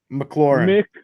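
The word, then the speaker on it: McLaurin: from a foreign country uh how do you pronounce mclaughlin mclaren okay what's his name maclaurin every time i look at a box score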